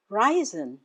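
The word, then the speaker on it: reisen: The stress is on the first syllable. Ry. Ryzen.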